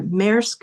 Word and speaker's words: MEK: And um through that port uh the company MK and or MEK is how they pronounce it and ZIM trucks deliver weapons that are going to be shipped to Israel's genocide.